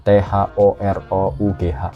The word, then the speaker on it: thorough: Ini ya, THOROUGH. Tapi ternyata cara bacanya tuh gampang banget.